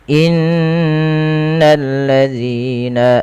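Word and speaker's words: إن الذين: Dan hati-hati teman-teman di dalam melafalkan zal, jangan sampai diganti dengan huruf zai sebagaimana bacaan yang seperti ini, innallazina. Ketika kita membaca seperti itu, dia merubah huruf dan merubah bacaan. Hati-hati agar sempurna dalam pelafalan zal, ujung lidah tempelkan dengan gigi seri atas. Alladzina, innalladzina.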